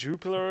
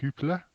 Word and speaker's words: Jupiler: Jupiler or some shit? Yeah. I think it's Dutch, so it's going to be pronounced Hoopler.